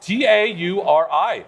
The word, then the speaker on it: Tauri: Tauri.